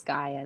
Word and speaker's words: Gaia: Okay, what I kind of hope, since I don't believe Gaia, how do you say her name? How do you say it? It's Gaia.